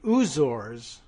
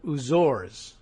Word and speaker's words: Azores: the middle of it says he hears it pronounced in the UK as the oors so H that still doesn't solve the question of the that final e in there aor right I don't know anyway uh oh stress on the second syllable uzor this is the I'm